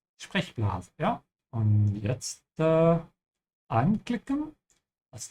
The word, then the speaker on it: Sprechblase: Also man sagt Sprechblase und nicht Sprechblase, ja? So you have to stretch the E and not the A. Sprechblase, ja?